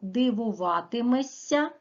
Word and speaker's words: дивуватимешся: чого дивуватимешся з побаченого зверніть увагу вимовляємо дивуватиметься а пишемо дивуватимешся дивуватимеш дивуватиметься дія буде